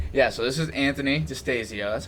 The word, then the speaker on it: Distasio: But yeah, so this is Anthony Distasio. That's how you pronounce it, right?